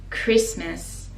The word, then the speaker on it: Christmas: Christmas, the T is silent and the last syllable ms is with schwa, so we say Miss Christmas, a Merry Christmas.